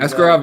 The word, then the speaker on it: Askarov: Askar Asarov, is that how you pronounce the dude? Askarov, yeah.